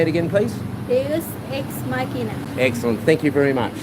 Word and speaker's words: Deus Ex Machina: How do you pronounce like the name? Is it Deus Ex Machina. Yeah. And can you say it again, please? Deus Ex Machina.